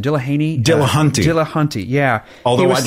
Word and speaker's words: Dillahunty: Dillahunty.